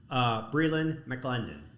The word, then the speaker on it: Brielyn McLendon: We have our director of operations, our new director of operations, Brielyn McLendon. That's right. How did I do it? Good pronunciation.